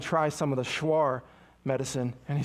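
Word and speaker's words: Shuar: And we go to this guy, this this schwar medicine man's home. Schwar s h u a r is how that's spelled.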